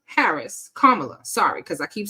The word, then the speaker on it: Kamala: Hampshire libertarian party says anyone who assassinates VP Cala Harris Kamala sorry because I keep saying it wrong VP KLA Harris would be an American Hero and this